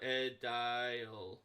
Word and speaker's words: aedile: No, I think that's right, Aedile. I was pronouncing it right.